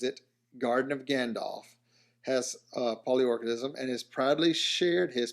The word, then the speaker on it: Polyorchidism: Polyorchidism. Polyorchidism. See, that's where I was screwing up. Thought it was orchid, but I was like, no, that can't be it. Polyorchidism.